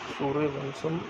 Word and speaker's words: सूर्यवंशम: सूर्यवंशम pronounced bye सूर्यवंशम trans solar dynasty 1999